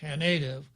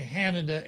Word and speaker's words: Haneda: on the ground at what everybody else calls Haneda, because they put their emphasis on the wrong syllable. But it's actually Haneda Airport.